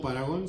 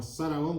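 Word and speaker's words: Zaragón: Me gusta este disco, estuvo muy bueno, se llama Saragón, no Paragón, se llama Saragón con Z, Saragón.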